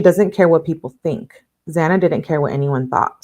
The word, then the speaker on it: Xana: She tells a story of Zana introducing herself to the five, explaining that her name is pronounced Xanax without the X. How Zana how Zana was a light and energy source in every room.